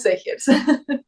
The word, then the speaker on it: Zegers: Es que claro, mi apellido, dependiendo del país, lo van a pronunciar distinto, pero en Chile lo pronunciamos Segers.